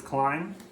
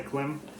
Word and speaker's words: Klim: is another kind of, I know there's an argument between is it Klim or Climb. I know that they've said themselves it's Climb, and if they call their jacket a Climate and they spell it like this, I think that's kind of a hint. I still say Klim.